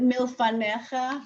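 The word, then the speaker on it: מִלְּפָנֶיךָ: Look at milfanecha. Does everybody see milfanecha? You've got the two dots under the lamed. You've got mil. That's my syllable. Fa, ne, cha.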